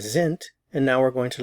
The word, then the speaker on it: sind: Notice the pronunciation of the S, z, sind. Notice the pronunciation of the D, sind.